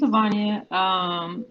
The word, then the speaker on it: Havanya: Hey, my name's Havanya. And I tell people it rhymes with lasagna to Okay.